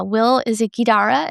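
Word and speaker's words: Will Guidara: Will isara is how you say it.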